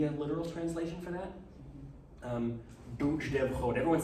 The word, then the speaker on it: Duj: The capital letters mean they're pronounced differently than you might think of, especially from a romantic language perspective. So this isn't duj, dev, chod. Duj, dev, chod. It's duj, not duj. Duj. The tongue is in the back of